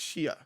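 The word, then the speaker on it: Xie: She's like, "It's pronounced, it's really pronounced shia."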